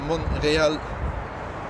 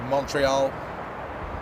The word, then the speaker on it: Montreal: to Amsterdam and husky is tuning in from monreal or I the Americans say Montreal welcome to Amsterdam here well how about that